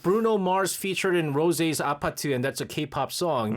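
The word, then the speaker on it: 아파트: Like people are like, "What is Apatu anyways?" And then they learned about, oh, it's how Koreans pronounce apartment.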